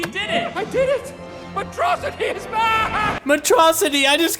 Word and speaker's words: Metro City: You and Metrocity. It's pronounced Metro City. Metrocity, Metro City.